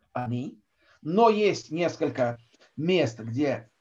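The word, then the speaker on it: אני: а хата Потах и поэтому ударение падает на и Ани но есть несколько мест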